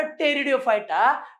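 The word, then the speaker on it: Pteridophyta: थैलोफाइटा बी फॉर ब्रायोफाइटा पी फॉर टेरिडोफाइटा टेरिडोफाइटा च नाव अस असत तिथे पी मात्र साइलेंट असतो मुका असतो आल लक्षात मग इथे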